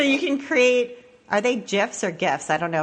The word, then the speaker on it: GIF: So everybody says GIF. That's so funny. GIF is peanut butter. Yeah, it's GIF like the peanut butter.